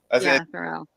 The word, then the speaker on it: Theroux: I don't know how to pronounce it. So forgettable. Justin Theroux. Theroux, is that it? Yeah, Theroux.